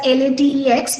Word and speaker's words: LaTeX: So I want to say that LaTeX is, so it is spelled as LATEX, but it is basically it's pronounced as LaTeX.